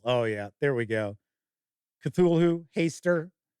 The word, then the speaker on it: Cthulhu: Cthulhu, Haster, Nyarlathotep. Okay, so that's how I pronounce these.